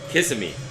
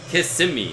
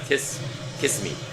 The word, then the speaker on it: Kissimmee: It's called It's pronounced Kissimmee. Kissimmee, not kiss kiss me.